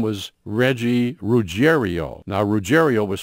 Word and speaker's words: Ruggiero: His name was Reggie Ruggiero. Now, Ruggiero was spelled R-U-G-G-I-E-R-O, but everybody pronounced, including Reggie and his family, pronounced it Ruggiero.